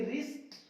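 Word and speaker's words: wrist: देखिए आर से पहले डब्ल्यू आया, इसको पढ़ेंगे रिस्ट, रॉन्ग, क्योंकि आर से पहले आ रहा है रॉन्ग।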